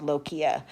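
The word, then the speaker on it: lochia: this word here called lokia This is actually I just wrote right over that this is actually pronounced like a k even though it's the CH but it's pronounced loia so what lokia is is the discharge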